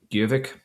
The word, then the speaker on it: Gjøvik: Gjøvik. Oh yeah. Because I know like the J makes the Y sound and the O with the line through it is kind of similar to the O umlaut in German.